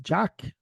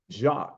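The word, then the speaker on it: Jacques: to say your name Jack jacqu like Jac custo is French jacqu all right okay I'm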